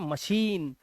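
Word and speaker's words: machine: उसको बोलते हैं मशीन तो इसकी स्पेलिंग जब होती है तो उसमें लास्ट में बीच में सीच होता है लास्ट में आई नहीं होता है तो इसे पढ़ते हैं मशीन श साउंड आ गया है ना क्या साउंड आ गया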